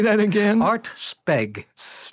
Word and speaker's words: Speg: Art Speg. S-P-E-G, because it was a one-syllable name.